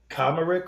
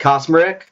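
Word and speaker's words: Kacmarek: I think Kosmerick. Okay. I think the C kind of works like an S in that, Kosmerick.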